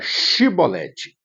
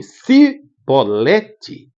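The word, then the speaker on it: שיבולת: efrita pronuncia a palavra chibolete se eles falassem sibolete morreriam a espada porque os efrit não conseguiam pronunciar chibolete eles falavam cibete e a Espada entraria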